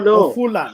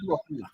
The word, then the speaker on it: Ofula: No. Ofula, not Wafula.